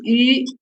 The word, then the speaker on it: yu: Circle your mouse and read again. Okay. You. Circle your lips more. Put your tongue straight inside your mouth.